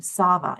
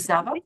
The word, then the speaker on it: Sava: Against her will, Sage is bonded with the dragon, Sava. Is that correct pronunciation? That's right. Yep. Thank you, Sava.